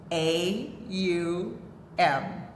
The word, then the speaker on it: Om: yesterday we learned that the proper pronunciation of ohm when you're a chanting is um a um alright and we also